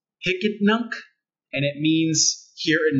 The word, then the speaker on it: Hicetnunc: this weird website that you may have seen heist nunc it's pronounced hicket nunc and it means here and now okay it's